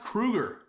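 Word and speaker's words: Kroeger: It's pronounced Kruger.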